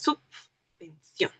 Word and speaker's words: subvención: Aunque hay excepciones como subvención, donde pronuncias dos veces subvención.